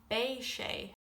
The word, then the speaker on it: beidh sé: For tomorrow you would say bay.